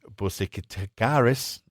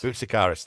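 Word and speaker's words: Boutsikaris: Dennis Busaris. I can't How do How do you say that, Luke? You you Bicaris.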